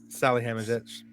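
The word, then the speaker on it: Salihamidžić: Salihamidzic. What I mean, that was decided. It was decided before the game. Sorry, it had to have been decided before. Can you say your pronunciation one more time? Salihamidzic.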